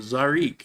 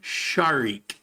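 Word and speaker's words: Zharick: i c k so you look at that and go oh zarik no it's as in it's sharik shik sharik actually it's not with the r the r is like a soft d sharik and here's the thing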